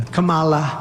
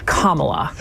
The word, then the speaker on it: Kamala: would come after me by the way Mr President it is Kamala Kamala Harris that's the best is